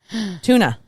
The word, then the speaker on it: tuna: margarine margarine okay Irene tuna tuna where there's no CH we've had this discussion to this Kyla there are no CHS in tuna it's a tea like